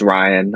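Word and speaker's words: Rian: And I love Rihan Johnson, I think his name is, right? I I assume think it's just Ryan. I think it's just pronounced Ryan. It's just spelled differently.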